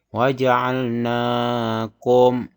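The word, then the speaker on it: وَجَعَلْنَاكُمْ: Mim mati bertemu dengan huruf shin. Cara membacanya harus jelas kalau idhar. Waja'alnakum. Jangan samar, jangan dengung.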